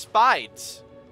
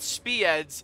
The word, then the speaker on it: Spides: Another thing regards to comments is that it's pronounced spides. It's not speeds, it's spides.